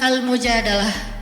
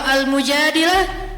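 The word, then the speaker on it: المجادلة: curhat kalau almujadalah curhat Jadi tergantung kita bacanya Dilah atau dalah kalau kita baca Mujadilah berarti perempuan yang lagi cur curhat kalau kita baca almujadalah berarti curhat itu sendiri surat almujadalah berkisah tentang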